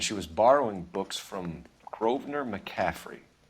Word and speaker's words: Grosvenor: And she was borrowing books from Grosvenor McCaffrey. The S is silent.